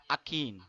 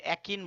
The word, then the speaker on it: akin: AKIN, আকিন। অনেকে একিন বলে, এটা উচ্চারণ হচ্ছে আকিন।